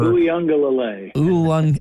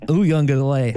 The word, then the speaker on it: Uiagalelei: DJ, not even going to try and pronounce his last name out at Clemson, with Dr. Pepper. Uiagalelei. Uiagalelei.